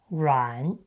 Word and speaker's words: 阮: But in Mandarin, we pronounce ruǎn.